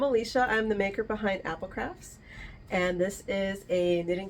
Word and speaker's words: APL Crafts: Dyer and maker behind Apple crafts and it's it's spelled APL crafts but it's pronounced Apple craft I thought I was